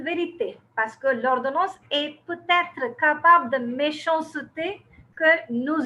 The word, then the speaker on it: peut-être: They pronounce it peut-être. There is a difference between peut-être and peut-être. So we have to, when